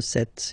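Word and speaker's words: sept: it S, 26, 27, remember set, it was this P disappear, you don't pronounce it, 27, 28, so here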